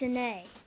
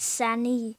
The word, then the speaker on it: Sania: It's sané. It's sané. It's sané. Not sani. Sani. It's weird. But it's sané.